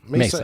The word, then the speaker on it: Mesa: on our Terrace and missa Arizona is it Mesa Mesa Arizona I've been there I should know how to pronounce it uh yes well